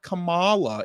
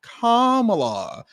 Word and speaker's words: Kamala: said her name wrong it's not Kamala it's Kamala he and if you